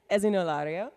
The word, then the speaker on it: Esino Lario: our colleagues and the organizing team here in Esino. Did I pronounce it correctly, Jenny? Esino Lario, thank you.